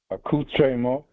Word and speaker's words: accoutrement: Accoutrement? Yes. Say it again. Did I say it right? You did.